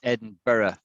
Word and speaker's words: Edinburgh: to say to pronounce edinburgh edinburgh yeah nearly nearly but it's edinburgh i'll do i'll do it slowly right four syllables right four syllables i